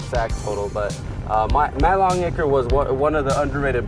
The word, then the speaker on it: Longacre: Matt Longacre and a lot of people can't pronounce his name right but it's Matt Longacre and he's gonna be coming back I think